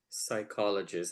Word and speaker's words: psychologist: pronounce it was P psychologist I didn't know that the P was silent at that time and